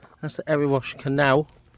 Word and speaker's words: Erewash: So yeah, that's the Erewash, keep saying it wrong. That's the Erewash Canal, right there.